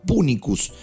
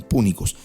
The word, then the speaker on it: punicus: justamente del gentilicio fenicia, que se pronunciaba punicus en latín, punicus.